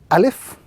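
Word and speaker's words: ألف: This is a letter in the Arabic language which is pronounced through the emptiness of the mouth. A very soft letter, not pronounced with any type of emphasis, and in pronouncing this letter, the air flows naturally through the lungs and the mouth of that individual.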